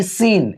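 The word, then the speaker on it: scene: इसको पढ़ते हैं सीन। यहां भी ये सी जो होगा साइलेंट रहेगा।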